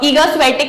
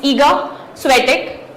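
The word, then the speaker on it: Iga Świątek: Again proper noun उनका जो country में कुछ अलग प्रोनाउंसिएशन होता है तो it could be different, but एज फार एज I know it's ईगा स्वेटिक।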